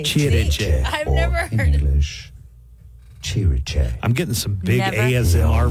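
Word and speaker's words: Cirice: Chiriche. Okay. Chiriche. I've never heard English. Chiriche.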